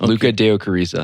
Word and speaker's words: Lucca Deocariza: We got Luca Deio Karisa. Did I pronounce that correctly? Yes. Luca Deokarisa.